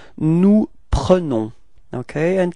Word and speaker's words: prenons: the plural, it's nous prenons, okay, and keep in mind that e is pronounced like e, pre, pre, okay, nous prenons, repeat, nous prenons, yeah, that's it.